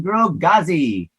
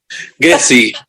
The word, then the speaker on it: Ghezzi: getting to know grogazi and i'm sure i pronounced your surname wrong um so how do you say your surname jesse jesse we're always massacring names